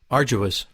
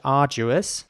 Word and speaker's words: arduous: the different pronunciations again arduous arduous arduous so again the a at the beginning is a little longer in British English arduous arduous and arduous arjurious